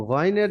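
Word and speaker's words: غين: غير المغضوب عليهم আচ্ছা, এখানে দেখুন গায়রিল, গাইন হয় মোটা করে, গয় মোটা করে গয়। উচ্চারণ হয়।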